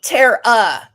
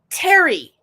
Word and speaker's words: Terry: Hell, he even told people again, he said, "It's T E R E. Terara." No, it's Terry. We pronounce and I pronounce it Terry.